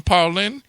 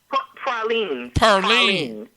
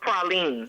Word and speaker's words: praline: off this radio, and he gonna speak some Parlin. And did I just say Parlin? Is that the correct way? Praline. Praline. Okay. It's pronounced praline.